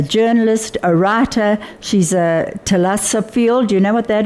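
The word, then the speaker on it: thalassophile: She's a Telasophiel. Do you know what that is? Lover of the ocean. Yes. I had to look up how to pronounce it because it's spelled TH.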